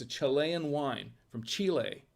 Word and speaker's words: Chile: chile from chile it's a chilean wine from chile it's actually pronounced chile my wife and i want to